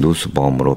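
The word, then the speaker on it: Nussbaum: 누스바음을 여기서는 누스범이라고 합니다. 말다 누스범. 그래서 그냥 누스범으로 발음을 하겠습니다.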